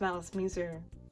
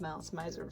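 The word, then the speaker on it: Malice Mizer: It's pronounced Malice Miser, but I read it as Malice Miser for a long time.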